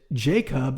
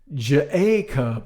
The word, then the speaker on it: Jacob: that my instructors know that jacob is not j a cub or jacob you know jacob kind of nice as